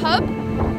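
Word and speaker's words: Höfn: Good morning from a place that is spelt in English like Hoffen, but I'm told it's pronounced Hub.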